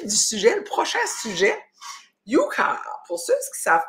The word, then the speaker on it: Yuka: Ça s'écrit Y-U-K-A.